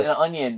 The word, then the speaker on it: Tonyan: It's But, an onion.